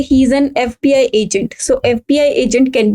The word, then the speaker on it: FBI: FBI. Though F is a consonant yet we should use N just because of the pronunciation of that particular letter.